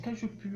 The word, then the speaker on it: cajeput: On dit cajeput, on ne prononce pas le T à la fin, puis sinon ça fait cajeput.